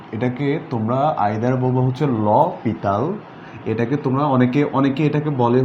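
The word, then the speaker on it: L'Hôpital: Alright, so এটা আসল উচ্চারণ তোমরা যেটা করবা বা তাকে যে নামে ডাকবা সেটা হচ্ছে যে এখানে তাকে ডাকবা হচ্ছে তোমার ল পিতাল, অথবা তোমরা ভাবলো হচ্ছে লোপিটাল, ওটা বলতে পারো লোপিটাল।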